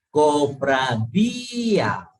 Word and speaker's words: cofradía: Por ejemplo, cofradía. Ahí vemos que la tilde está en la vocal cerrada. Por ende, se separa y se produce el hiato, ¿sí?